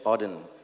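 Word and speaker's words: Auden: So, so it's a part of a poem from WH Odin. That's how you pronounce it.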